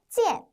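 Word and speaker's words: 件: 세는 단위 양사 있니다 자 중국어로는 찌엔 찌엔이라고 읽어요 우리말에서도 옷을 셀 때는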